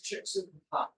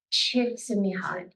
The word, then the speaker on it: Csikszentmihalyi: I went to the University of Chicago, so that's how you pronounce it. His name is Csikszentmihalyi. Csikszentmihalyi. Csikszentmihalyi.